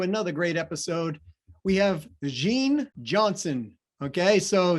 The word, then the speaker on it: Jing: great episode we have jean johnson okay so it's pronounced gene but spelled j-i-n-g and she owns a